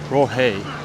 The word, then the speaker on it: Raohe: So it's pronounced Raohe, but it reads like roast or something like that.